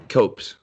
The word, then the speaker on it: Copes: Copes.